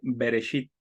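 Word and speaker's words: בראשית: levíticos números deuteronomios pero en hebreo no se dice Génesis se dice berechito Qué significa también origen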